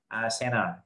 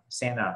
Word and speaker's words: center: đọc center hoặc là center, center, in center, nó có thể đọc center, center hoặc là center, mất luôn âm thờ cũng được, giống như 20 đọc 20